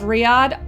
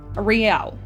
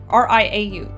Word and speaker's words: Riau: Well, Tengku Hussein was subsequently sent into exile and I'm going to butcher the name, Penyengat Island of Riyadh Archipelago. Riau. R-I-A-U. Riau Archipelago. Now, in 1814, the situation in Europe stabilized.